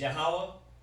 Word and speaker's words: Yahweh: So, you know, the proper way to say it is Yahweh and Yahweh Shai. Okay? That's the proper way to say it. Yahweh and Yahweh Shai.